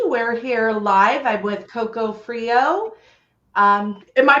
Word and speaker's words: Coco Freeo: I'm with Coco Freeo. Am I pronouncing that right?